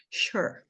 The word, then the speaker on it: sure: então eu escrevi assim sure Olha só esse e no finalzinho não tem som nenhum aqui ó Isso aqui é